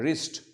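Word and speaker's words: wrist: रिस्ट त्याचा spelling आहे डब्ल्यू आर आय एसटी त्याचा प्रोनन्सशन आहे रिस्ट रिस्ट म्हणजे मनगट हा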